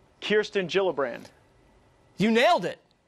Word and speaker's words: Gillibrand: right here alright so kirsten gillibrand not Gillibrand it's a soft shade now the Minnesota woman